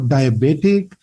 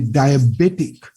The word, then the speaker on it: diabetic: diabetes and diabetic okay this is also not diabetic it should be diabetic okay should be like this the baby part say when we pronounce we have to stress diabetic diabetic diabetic the bay part must be stress okay so later we'll